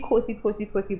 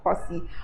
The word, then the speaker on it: Khosi: The funny thing that we've been saying Khosi, but she's actually pronounced the name as Khosi, but I just say Khosi.